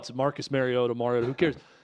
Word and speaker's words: Mariota: Well, it's Marcus Mariota.